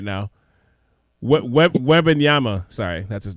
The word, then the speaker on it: Wembanyama: Wembanyama? I can't pronounce his name properly at the moment. But everybody seems to be tanking for him right now. Wembanyama, sorry, that's his name.